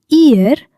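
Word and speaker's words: ihr: في المانيا فير نحن اير انتم انتما ردوا البال لنطق حرف اش هنا ماكتنطقش كنطول غير الا كنقول اير الامثله مع شرحها بالدارجه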